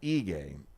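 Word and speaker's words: Ige: e um that's uh I'm sorry eay that's what it's pronounced but it's uh spelled i g is Chicago's Department of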